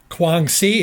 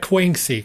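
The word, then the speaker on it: Guangxi: take for infantries into Kuang si it's called Kuang si not kwang SI kwang SI I saw that brief pronunciation over the internet for that so it's kwang SI they're going to from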